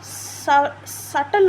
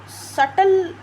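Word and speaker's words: subtle: ठीक है, उसी की तरह सटल होता है। लाइक कई लोग सटल में बी साइलेंट है, लेकिन कई लोग सबल बोल देते हैं, टी साइलेंट कर देते हैं, बट सटल होता है एक्चुअल।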